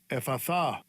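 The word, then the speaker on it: Ἐφφαθά: It is pronounced this way. Strong's G 2188. Ephatha.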